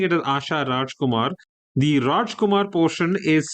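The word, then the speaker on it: Radjkoemar: was a poet, her name even though I'm pronouncing it as Asha Rajumar, the Rajkumar portion is spelled R A D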